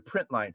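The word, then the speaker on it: println: line method here the print line function there's also we read that it's spelled p r i n tln and people read it as print line there's also a print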